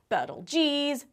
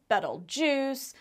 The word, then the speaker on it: Betelgeuse: As an aside, there's a couple of ways to pronounce Betelgeuse. Betelgeuse, Betelgeuse, and Betelgeuse are the most common. But a lot of people will moan that there's a proper pronunciation, but after the movie Betelgeuse came out, everyone started pronouncing it Betelgeuse, and that's what stuck.